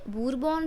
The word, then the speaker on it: Bourbon: the bone dynasty यह बरबन dynasty से संबंध रखते थे इसको बरबन भी बोलते हैं बर्बन भी बोलते हैं ठीक है इट्स अप टू यू हाउ you pronounce it बर्बन dynasty से ये